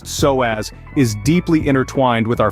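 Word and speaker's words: psoas: isn't just any muscle the soaz muscle pronounced soaz is deeply intertwined with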